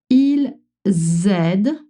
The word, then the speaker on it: ils aident: Ils aident. They're helping. Elles aident. They're helping. Or help. You notice the Z. You have to make that Z sound.